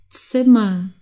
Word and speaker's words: Zimmer: ausgesprochen der Arbeiter das Zimmer okay Zimmer sich eigentlich komplett an nur wie ein a am Ende das Zimmer der Fehler